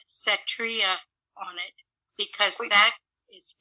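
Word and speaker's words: Setria: look for a glutathione which has the name cetria on it because that is usable in the body and it's spelled s-e-t-r-i-a uh s-e-t r i a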